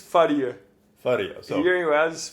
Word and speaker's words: Faria: And I've just found out that I've been pronouncing your last name wrong. I thought Faria. You're saying Faria. Faria. Okay, Faria. No, but we're gonna finish this podcast with me looking like a total idiot. No. Pronunciation front. No, here you ask people say Faria. Yeah. Faria. The Portuguese is Faria.